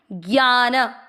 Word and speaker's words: ज्ञान: अंतिम पंक्ति: ज्ञान, 'ग्या' पर 'आ' मात्रा को लंबा करते हुए , 'ना' में 'अ' ध्वनि को मिलाते हुए - 'ज्ञान'।